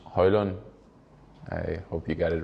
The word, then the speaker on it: Højlund: do that uh yes my name is Rasmus hoyland I hope you got